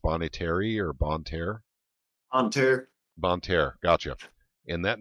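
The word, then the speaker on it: Bonne Terre: Is that how it's pronounced? Bon Terre or Bon Terre? Bon Terre.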